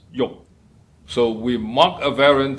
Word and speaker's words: 欲: In Cantonese and Middle Chinese, it's pronounced as yok.